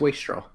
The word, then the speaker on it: wastrel: there's anything yeah it's waste straw okay cool yeah there's there's yeah there's because it's again waste is the key word there so there's no reason to change the pronunciation because there's an l